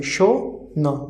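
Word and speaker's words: schon: Whenever SCH will come together, the overall pronunciation of SCH altogether it will be sh. Okay, so sh o no, sh o no, like sh o will be show no.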